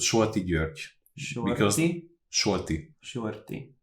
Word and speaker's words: Solti: Because Solti. Solti. No, not shorty, like short. Sol with L. Solti.